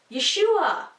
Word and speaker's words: Yeshua: all and you'd say you got ya schewe yeshua okay so that's what Messiah's name looks like